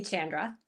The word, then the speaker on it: Chandra: Please call me Chandra.